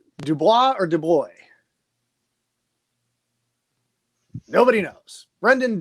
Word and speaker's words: DuBois: It's Du Bois. Du Bois. Okay, Brendan Du Bois. It actually pronounces as Du Bois. Oh, as Du Bois. in the boys.